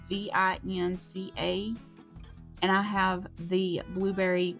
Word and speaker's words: Vinca: I'm gonna spell it out because I know that I'm not gonna pronounce this right. It's Vinca, and I have the blueberry white, a mix, and a pink.